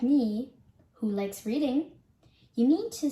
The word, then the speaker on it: Reading: While you may be like me, who likes reading, you need to say Reading when it comes to the name of this town.